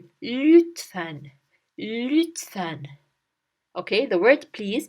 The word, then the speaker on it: lütfen: Now here I want you to pay attention that this letter, we don't say it as lütfen, lütfen. No, it's not that. It's ü, lütfen.